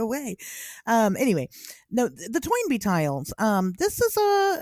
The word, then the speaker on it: Toynbee: familiar toy and be is it Tony B like that's what I would say and my my my gross mispron that's not correct I know my gross mispronunciate pronunciation of things Tony B tiles right no it's toy NB tiles no it's toinb tiles yeah I'm not kidding it's not toy NB it's tob yeah see that's What was last week's episode?